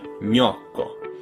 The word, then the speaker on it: gnocco: your tongue doesn't just move towards the roof of your mouth, it actually touches it, stopping the airflow and forcing the air to come out your nose. Ny, gnocco. You get that quick y sound at the end as soon as your tongue moves on to pronounce the next vowel, gnocco.